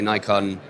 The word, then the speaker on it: Nikon: actually either confusingly uh in the us uh our us team definitely say nikon but in europe and in fact in japan where i believe the correct pronunciation must be more readily felt it's nikon it's nikon oh my god